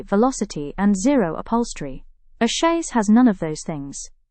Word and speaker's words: chaise: First, it's pronounced chaise. It's one syllable and as SDS has already shared, it's French origin.